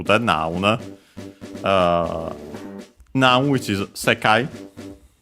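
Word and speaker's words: 世界: It's a Chinese compound. One of those accent on the first syllable. So yeah, not the most common ones, as we have seen. Usually those are unaccented. But the second most common accent for those. So yeah, on the first syllable, on the first more, I should say.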